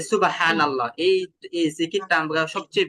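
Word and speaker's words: سبحان الله: তো এখানে কিভাবে উচ্চারণ করতে হবে মোটা করে উচ্চারণ করতে হবে সুবহানাল্লাহ হ্যা আমরা আগে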